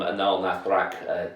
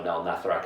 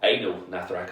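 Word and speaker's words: Anaal Nathrakh: And I love Anal Nathrak as well. or anal Nathrax, I used to pronounce it back in the days, but they do a real good job of blending like grindcore, industrial, and black metal.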